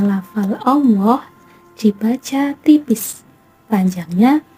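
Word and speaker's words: الله: Jadi cara membacanya adalah tipis dan panjangnya 2 harokat. Allah, Allah, seperti itu.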